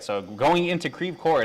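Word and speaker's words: Creve Coeur: right now it's definitely confirmed I can see creeve core okay thank you Samantha I I'm I am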